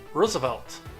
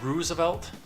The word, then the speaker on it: Roosevelt: he used to tell me all the time how to pronounce Roosevelt I use the oh sound like roof which that could be misleading from text because my ex-girlfriend would say roof so I don't